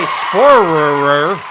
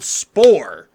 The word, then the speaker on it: Spohrer: And I used to say Spohrer, but our producer Andy said, Pat, just think of like Thor. Yeah. So Gerald Spohrer rhymes with Thor.